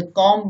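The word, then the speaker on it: calm: यदि L vowel ए, ओ और यू के बाद आए तो प्राय एल साइलेंट रहता है। देखें जैसे कॉम मीन्स शांति, टॉक मीन्स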